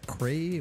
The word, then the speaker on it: Crae: You don't hear Crae a lot. Yeah, not many people do. There's the Crae supercomputer. Oh, yes. Yeah. Although I think that's spelled C-R-A-Y, and you're C-R-A-E.